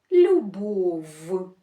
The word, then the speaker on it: любов: Вимовлятися вони люблять твердо. Послухайте. Кров. Любов. Можете повторювати для того, щоб правильно їх вимовляти. Кров. Любов. Верф. степ сім вісім. Ми чуємо, як ці звуки вимовляються твердо.